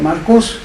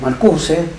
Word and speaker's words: Marcuse: Pero Marcuse, o Marcuse, como la pronunciación castellana exige, fue muy cuestionado porque